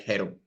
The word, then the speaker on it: Jero: I speak Spanish, so originally the pronunciation should be something like Hero.